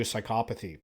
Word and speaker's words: psychopathy: we're going to go ahead and jump to psychopathy then and yes that is how you pronounce that word for those of you that